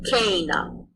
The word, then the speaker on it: cena: A long E makes an A sound, as in they. An example of that would be cena, dinner.